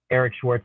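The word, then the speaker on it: Eeeric Schwartz: all my links to my instagram which is eric schwartz with three e's e-e-e-r-i-c-s-c-h-w-a-r-t-z it's pronounced eric schwartz and then um facebook i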